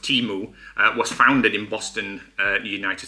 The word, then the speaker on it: Temu: So Temu, as it's pronounced, Temu, was founded in Boston, United States, which I didn't know.